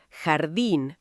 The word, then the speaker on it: jardín: En español la J es un sonido gutural, fuerte que viene de la garganta. Garganta es la parte interna del cuello. Jardín, jugar, jefe.